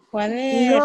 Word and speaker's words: cuaderno: ¿Cuál es la sílaba que yo alargué? Cuaderno.